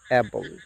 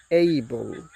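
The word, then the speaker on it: able: এটাকে আমরা বলি অ্যাবল। This is wrong. এর সঠিক প্রনাউন্সিয়েশন হবে এইবল।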